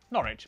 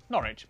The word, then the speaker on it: Norwich: stir leicester worcester gloucester w at the start of the final syllable is silent norwich beric southwark er is